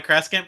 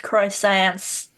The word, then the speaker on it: croissants: think So those are pronounced croissants. The way as someone who has read words and never heard them out loud, Yeah. so she pronounces them all wrong.